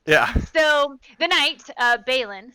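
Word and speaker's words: Balin: happen at feast yeah so the night uh bailin spelled with an i b-a-l-i-n um he is able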